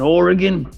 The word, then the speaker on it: Oregon: Originally, I was born in Oregon. Eugene, Oregon. Oregon. Oregon. Gotta mispronounce everything.